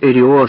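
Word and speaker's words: Эррио: эрио на русский лад эрио постарался произнести свою фамилию с ударением на Первом слоге он говорил что видел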